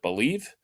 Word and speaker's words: Bleav: Again, we have moved to Believe, and it's spelled Believe without the E at the end.